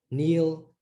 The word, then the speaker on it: kneel: You get these silent letters. Kneel.